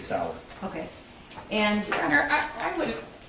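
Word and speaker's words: Sauer: mentions the six sour he mispronounced sour as Sawyer which if you purchase that firearm and it was for yourself you'd be familiar with how to say Sig Sal okay and I I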